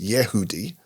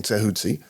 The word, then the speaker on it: Tehuti: Some people think it should be pronounced Yehudi, but same thing, Tehuti.